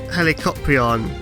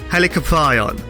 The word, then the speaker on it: Helicoprion: artwork for a cutaway, points out that I mispronounced Helicoprion, or how it's actually pronounced, Helicoprion.